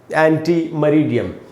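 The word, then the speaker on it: ante meridiem: ये मैंने उच्चारण लिखा है यहाँ पर, एंटी मरीडियम।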